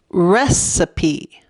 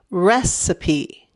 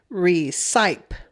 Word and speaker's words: recipe: follow that e rule e at the end usually changes the vowel to a long vowel sound so it should say resipe but it doesn't it's pronounced recipe recipe